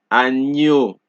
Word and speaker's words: agneau: So the GN in French is pronounced similarly to NI in the word onion in English. Example, agneau, bagnole, espagnol.